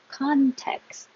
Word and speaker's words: context: Context. Hold the T, don't release it like context, just hold it.